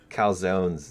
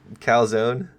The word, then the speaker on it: calzone: You have to say the E Calzone?